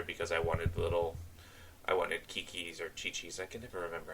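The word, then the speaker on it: Qiqi: And you notice I switched the team roster because I wanted Kiki's or Chi-Chi's, I can never remember how to say her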